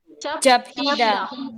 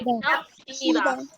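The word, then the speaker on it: 잡히다: Japida. Oke, capida. Jadi apa tadi peraturannya? Kalau biep bertemu dengan hiat, Piep maka dibaca piep.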